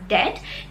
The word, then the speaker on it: debt: इसको आप डेब्ट नहीं पढ़ेंगे, you will pronounce this as debt क्योंकि यहाँ पे जो B है that is silent, so you will pronounce this as debt.